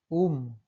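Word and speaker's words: womb: उम, उम्ब नहीं पढ़ रहे हैं।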